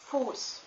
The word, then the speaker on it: Fuß: Also, the vowel that stands in front of a sharp S is always long. For example, the word Fuß means foot. And, it's spelled with a sharp S at the end.